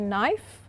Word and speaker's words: knife: of words foreign so that was a video on the silent k so hope you found that useful so for example if we say knife knock knickknacks so that's something for